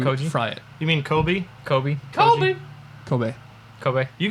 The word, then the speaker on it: Kobe: You mean Kobe? Kobe. Kobe. Kobe. Kobe. You guys, am I the only one that doesn't pronounce words wrong here?